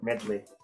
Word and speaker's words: Medley: ¿Cómo es que se pronuncia esta palabra? Midol, Midol. Ay, Dios mío. No sé cómo pronunciarlo. Medley.